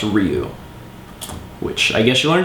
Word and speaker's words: Ryu: And someone recently told me it wasn't pronounced Ryu, it's pronounced Ryu.